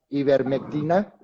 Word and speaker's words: ivermectina: Hay un medicamento en particular que se llama ivermectina. ¿Estamos de acuerdo? ¿Así es como se pronuncia, doctor?